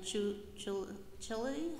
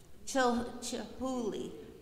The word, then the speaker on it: Chihuly: Ask, there is a trip to the New York Botanical Gardens and the Chulili, how do you say that, Ben? Chulili? Chihuly exhibit. Chihuly.